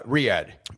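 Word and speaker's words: Riyadh: Is it Rya? Uh, Riyad. Riyad. Okay. I was looking at it phonetically.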